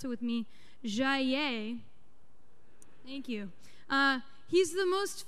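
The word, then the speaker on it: Jayer: This guy, Henri, pronounce it with me, Jaillet, thank you.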